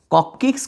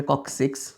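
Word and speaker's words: coccyx: যদি বলে কক্কিক্স কয়টা, আসলে উচ্চারণ হবে কক্সিক্স, যাই হোক, কক্কিক্স কয়টা, তাহলে উত্তর হবে একটা।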